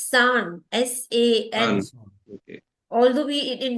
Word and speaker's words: さん: Not Chan, it's San.